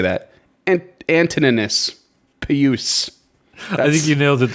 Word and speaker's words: Antoninus Pius: and there was also one brought by Emperor Antoninus Pius and Antoninus Pius. I don't know how to say that. Antoninus Pius. I think you nailed it the first time. Antoninus Pius.